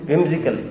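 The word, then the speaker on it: whimsical: लोग में इसको हिम्जिकल कहते हैं, हिम्जिकल समझते हैं आप, हाउ डू you pronounce that, विम्जिकल की हिम्जिकल, विम्जिकल, ओके।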